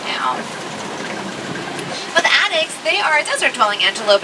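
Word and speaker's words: addax: And the current residents, they're called addicts. They're a type of desert dwelling antelope. Their name is spelled A D A N.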